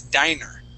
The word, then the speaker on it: diner: With one N, that is diner.